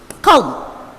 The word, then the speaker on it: comb: Same way, there is one more word in which the letter B is silent, and that is comb.